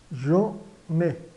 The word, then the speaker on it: j'en ai: Então, on ai, j'en ai. Então, se pronuncia j'en ai, tá?